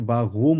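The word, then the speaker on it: warum: সৌরভ একটা প্রশ্ন করল এটাকে আমরা ভারুম বলবো নাকি বাহুম বলবো এটাকে দুই ভাবে বলা যায় বলা যায় যে গলা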